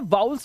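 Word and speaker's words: vowels: इन्हें वाउल्स बोलते हैं। वाउल्स, वॉवेल नहीं, वाउल्स। बहुत सारे यूट्यूब पे टीचर्स हैं जो इसको गलत प्रोनाउंस करते हैं, वॉवेल नहीं बोलते इसको, वॉवेल नहीं बोलना है, वाउल्स।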